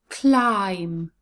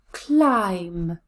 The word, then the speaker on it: climb: know that pronunciation rule when the word ends in m b the b is always silent so words like bomb